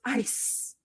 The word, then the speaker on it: ice: So then Josh, my genius, is like, because you know, CE makes the soft sound. It's soft. It's the soft C sound. So it sounds like S. So it's ice.